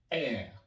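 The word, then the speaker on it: heir: Je vais prononcer le mot R. R. Parce que le H ne va pas être prononcé.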